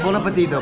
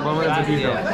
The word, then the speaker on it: Buon appetito: Buon appetito. Buon appetito.